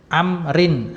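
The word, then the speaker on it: عمرو: ro kan ya bakrin Amrin nah pada kata Amrin wau di situ wunya tambahan untuk membedakan antara namanya Amr dengan Umar jadi kalau ada wunya seperti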